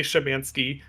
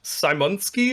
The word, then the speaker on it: Szymanski: I don't actually pronounce it the correct Polish way. But I say Szymanski. I think the correct Polish way is something like Simonski or something like that.